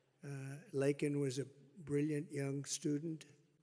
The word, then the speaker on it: Laken: was robbed of a brilliant 22-year-old nursing student lak and Riley you know lak very well now and after months of prodding him Biden couldn't pronounce her name he said uh he said Lincoln Lincoln Riley and Lincoln Riley was the football